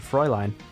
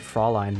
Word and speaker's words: Fraulein: arm again tonight and froy line there we go I said it right this time I don't know why I said Fraulein last time this Froy line I don't have to